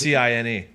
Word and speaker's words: Cine: Cine. Bro, Cine, dog? Yeah, wasn't that's how they pronounced it on the national championship?